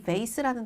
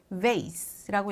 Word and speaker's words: vase: 근데요, 여러분, 이 vase라는 단어는 vase라고 얘기하는 미국 발음도 있지만 vase라고 얘기하는 영국 발음도 있으니까 vase, vase 두 개를 같이 기억해 주셔야 합니다.